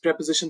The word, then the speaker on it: preposition: जी हाँ, इसको प्रीपोजिशन मत बोलिएगा या फिर प्रीपोजिशन तो बिल्कुल भी नहीं। प्रेपोजिशन, प्रेपोजिशन ये है इसका एक्चुअल प्रोनाउंसिएशन।